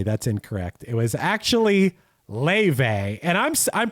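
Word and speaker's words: Laufey: It was actually Ley. And I'm I'm pronounc This is another one. I'm pronouncing Ley right.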